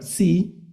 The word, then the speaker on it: psi: La ese psi, la letra se llama psi, es el signo también como de psicología, si recuerdan el signo de psicología, ese sonido ps, ¿no?